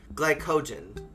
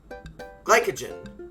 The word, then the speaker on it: glycogen: off the thought rhymes with sky co like co-op gen like gen z okay glycogen glycogen sugar that started in